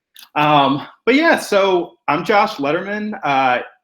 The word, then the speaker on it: Letterman: But yeah, so I'm Josh Letterman. It's pronounced like David Letterman, but it's spelled differently, so people mispronounce it all the time.